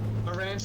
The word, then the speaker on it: Aransas: Aransas.